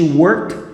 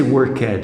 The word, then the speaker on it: worked: she worked for okay ed is gonna sound here as if it were a t when she worked for the government okay you don't say workhead here okay and she